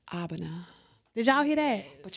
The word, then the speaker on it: Abena: up like this and let's pronounce it right give it to the people my name is abana did y'all hear that